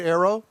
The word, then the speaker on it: Ayro: us thank you good morning well did i pronounce it right arrow you did it spelled a little odd with